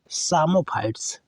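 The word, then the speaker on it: psammophytes: फिर आगे है सामोफाइट्स, पी इसमें साइलेंट है बलुई मृदा में वृद्धि करने वाले पादप आ जाते हैं।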